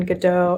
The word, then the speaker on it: Godot: Oh, it looks like we have some people in the chat about the pronunciation, Godot, as in waiting for Godot.